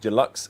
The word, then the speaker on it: Deluxe: if you order the deluxe edition I keep saying Dulux it's Deluxe I know why I